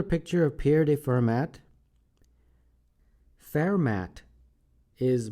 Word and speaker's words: Fermat: Fermat is most likely the correct pronunciation of this mathematician's last name, since he was from France.